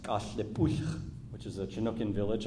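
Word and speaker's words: Cathlapotle: relate this back to, this is the Kathlipodal plank house, which is actually pronounced Kathlipuch, which is a Chinookan village on the other side of the Columbia River here.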